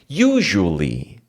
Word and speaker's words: usually: pra atenção na aula usually J normalmente geralmente usualmente normalmente né a pronúncia pessoal aqui é o seguinte ó você tem o primeiro u que é you é um som de you you como falando you